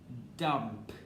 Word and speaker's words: dump: appeared back okay so please pronounce it as dump okay you need to have the p sound on the back okay dump all right